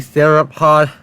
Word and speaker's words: theropod: Sauropod? Just two separate words. Oh, man. Supposed to be theropod, but hey, crazy pronunciations.